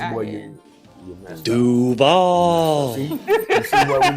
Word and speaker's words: Duval: But see, my husband doesn't like when I say Duval. Because that's not the correct way to say it. It's Duval.